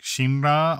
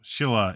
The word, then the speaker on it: Silla: for this new country the name actually translates to like shimra although Shilla is the more modern pronunciation there was definitely a